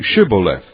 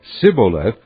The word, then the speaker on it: Shibboleth: If he replied no, they said, All right, say Shibboleth. If he said Sibboleth, because he could not pronounce the word correctly, they seized him and killed him at the fords of the Jordan.